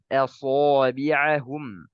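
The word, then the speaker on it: أصابعهم: Di sini contohnya ya asabi'ahum. Ya, jangan sampai kita fokus ke huruf shad dia punya sifat isti'la dan itbaq, kita membacanya aso. Ya, ini banyak terjadi. Asabi'ahum. Ini salah. Harusnya so. So.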